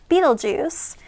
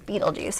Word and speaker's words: Betelgeuse: out the mass of betelgeuse in terms of solar masses so this is betelgeuse and how we spell it is b e t e l g e u s e not juice okay it's